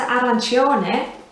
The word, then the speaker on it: arancione: and so back to arancione it's the same you want to make sure that you're placing the emphasis on the chop section of this word put a little arrow there to show ar because strangely it can